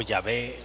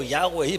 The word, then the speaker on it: Yahweh: Pero fíjense, nadie sabe, más bien debería de pronunciar algo parecido a Yahvé o Yahweh, pero exactamente nadie sabe cómo es el nombre de Dios, nadie, ¿no?